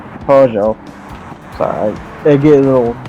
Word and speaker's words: Peugeot: Peggott, or I'm saying Peugeot. Sorry, I get a little trained on that one because I used to call Peggott. It's Peugeot or Peugeot because the T is silent.